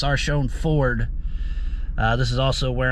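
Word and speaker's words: Sarchione: I'm at Sarshone is how it's pronounced, Sarshone Ford.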